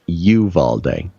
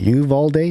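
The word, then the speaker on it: Uvalde: notes uh from people especially in texas it's pronounced you've all day apparently it's very important that we pronounce this correctly okay you've all day meev all day they've all day so it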